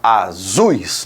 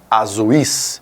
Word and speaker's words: azuis: quero que você pense Eu tenho um som mais forte no u e mais fraco no i eu falo azuis não azuis certo então o que